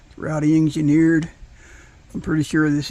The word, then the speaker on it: Roddy: today we have um I think you pronounce this Rowdy r o d d y Rowdy engineered I'm pretty sure